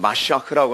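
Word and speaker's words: מָשִׁיחַ: 더 정확한 표현은 마시아흐라고 하는 발음을 하는데 마시아흐, 이 메시아의 헬라식 발음이 뭐예요?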